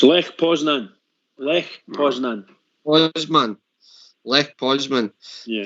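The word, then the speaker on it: Lech Poznań: How would you pronounce that? Bridgeman? Lech Poznan. It's Lech Poznan.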